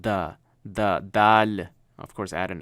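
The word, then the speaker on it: دال: It has a light da to it, but basically you would pronounce it as the. So THE, the, of our English, our word, that is how it's pronounced. The dal.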